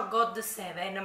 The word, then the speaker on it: GOT7: detto che si, cioè una sola persona mi ha detto che si pronuncia God Seven, ma io non penso perché, no, penso che la T si pronuncia D, Good Seven.